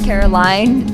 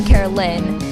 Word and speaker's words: Caroline: my name wrong like my name is caroline and he called me carolyn which is not a